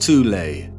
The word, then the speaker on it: Thule: called The Soul Society sometimes alternatively pronounced toulay that had sub-factions within